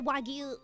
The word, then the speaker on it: wagyu: It's pronounced um in Japanese it's wagyu. So if I say it in English it would be like wagu I guess.